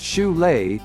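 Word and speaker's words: Šiauliai: the small industrial city of chole pronounced shulay is the lithuanian national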